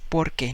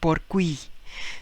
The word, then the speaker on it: porque: same combination rule and instead we say porque you throw the u and you say porque all right so this is pronounced as porque not por qui so that's one of